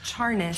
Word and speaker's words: Charness: It's Charness. That's what we're going with now? It's with a CH. Charness.